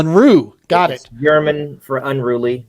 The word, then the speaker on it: Unruh: sir hey good afternoon guys so help me pronounce the last name unra is that right it's it's close I've been called uh many things uh the correct pronunciation is unre R unru got it German for unruly but I'm I'm